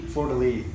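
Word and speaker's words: fleur-de-lis: say it Florida Lee Florida Lee yeah so it's not Leaf it's a lee yeah it's Lee yeah I always say Leaf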